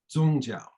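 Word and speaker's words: 宗教: in neologism and uh the same characters are pronounced zongzhao and so zhongzhao is the term that's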